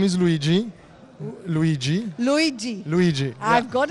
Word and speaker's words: Luigi: please tell us your name my name is luigi luigi luigi luigi i've got it right luigi yeah that's the right pronunciation thank you thank you so your take